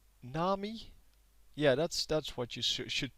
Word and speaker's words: Nami: Nami. Yeah, that's what you should pronounce it as.